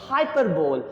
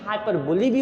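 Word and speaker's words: hyperbole: इसके बाद जो टॉपिक हम लोग समझ रहे हैं यहाँ पर, वो है हाइपरबोल। इसका प्रोनाउंसिएशन हाइपरबोली भी होता है और हाइपरबोल भी होता है।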